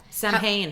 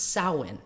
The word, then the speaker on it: Samhain: Uh because I'll be honest, when I first saw it's spelled S A M H A I N. Yeah. Sam Hayne.